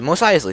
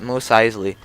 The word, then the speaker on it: Mos Eisley: Mos Eisley. See, I even know how to say it. That's so good that you know how to say that. Mos Eisley.